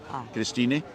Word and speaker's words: Christine: pronounces it Christina because she pronounces the E because she's German Christina I love it and